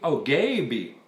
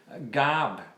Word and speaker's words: Gaby: Anything you have trouble, a program like that, particularly from government money, Gaby. So it's an E, I say Gob. Gabi rhymes with baby.